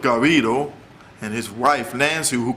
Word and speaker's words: Garrido: Failed to find out that this sicko by the name of Philip Guerrero, or Garrido, let me pronounce it better, Philip Garrido, and his wife Nancy, who couldn't give children, was kidnapping and abducting poor Jaycee Lee Dugard.